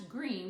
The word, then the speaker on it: Greene: Greene, that's Greene with a silent E at the end, discovered they were expecting a baby girl.